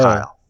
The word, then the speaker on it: Kiel: Tell all the Yeah, listeners that hey, this is how it's pronounced. So, absolutely. Yeah, it's uh, Kyle.